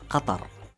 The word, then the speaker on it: Qatar: the official pronunciation of my country is Qatar.